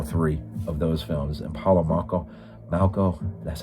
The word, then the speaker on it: Paolo Malco: And again, Katrina McCall, who's in all three of those films, and Paolo Malco, that's how you say it.